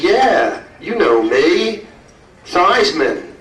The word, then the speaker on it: Theismann: Theismann rhymes with Heisman.